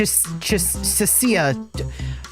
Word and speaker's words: Cecia: I keep saying Chisha. It's Ch Cecia. I keep mispronouncing her name.